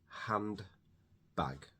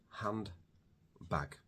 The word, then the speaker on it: handbag: To say it at normal speed, handbag, it's difficult to say a D and a B together.